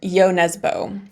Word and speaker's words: Jo Nesbø: looked it up on, his name is pronounced Jo Nesbø.